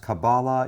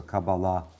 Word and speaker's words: Kabbalah: Kabbalah or sometimes pronounced Kabbalah either way is really okay I prefer putting the accent on the last syllable which is how modern Hebrews usually treats words so Kabbalah Kabbalah comes from a